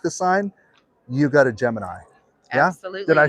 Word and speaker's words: Gemini: But if you want to start making signs, but you don't want to make the sign, you got a Gemini.